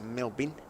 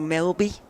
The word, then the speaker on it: Melbourne: Melbourne, as I'm told, it should always be pronounced. I've only been a couple of times. Melbourne. Melbourne or Melby. Melby.